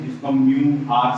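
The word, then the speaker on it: μ: ठीक है, इसको हम क्या प्रोनाउंस करते हैं, म्यू।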